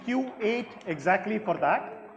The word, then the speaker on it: Q8: you can see it's Q8 exactly for that right this is Kuwait petroleum company their brand is called Q8 it just so happened that it's phonetically the same but also because originally